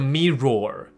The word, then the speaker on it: mirror: 结尾。那我要强调，这都是耳朵的耳的那个音 er，所以镜子 mirror，可怕 horror，所以你不要念成 horror，也不要念成 mirror，都没有 roar 的音，听懂意思吗？没有 roar，就是 er， horror， mirror，这样就好了。听起来很奇怪，并没有奇怪， mirror， horror， OK，所以 I blink then gasp。In horror, horror, OK?